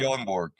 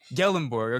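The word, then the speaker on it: Gyllenborg: Believe uh second team all mountain west tight end John Michael is it how do you pronounce his last name? Gellenborg. Gellenborg.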